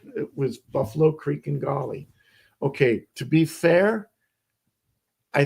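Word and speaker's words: Gauley: I mean, maybe not as bad as Gory and Defeated, but depending on how you say it, Buffalo Creek and Golly.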